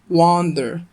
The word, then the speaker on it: wander: والفرق في النطق بينهم إن الأولى فيها مد شوية أكتر في الأول، كأنك بتنطق بالعربي واو ألف نون، أما التانية كأنك بتنطق واو نون على بعض. فالواو نون بس أقصد من غير ألف، من غير مد، تمام. فالأولى بتتنطق كده wander، تمام. أما التانية wonder، كأنك بص شفت بداية